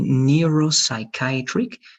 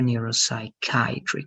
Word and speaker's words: Neuropsychiatric: be like I and this is going to be like EU right so it's going to be Neuropsychiatric and remember that this is plural so it's going to be diseases all right and the stress is here and here Neuropsychiatric is here okay so one more time